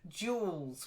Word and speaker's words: jewels: then jewels. We tend to not pronounce the second e. It's not Okay. stressed at all.